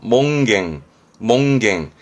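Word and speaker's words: 門限: 발음은 그래서 몽갱.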